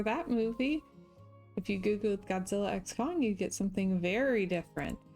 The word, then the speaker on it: Godzilla x Kong: we went to see Godzilla X Kong and I know that the director said the x is silent but that's dumb so